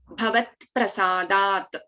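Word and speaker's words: भवत्प्रसादात्: Bhavat Prasadat, T, P and R. Bhavat Prasadat, all three needs to be heard very clearly.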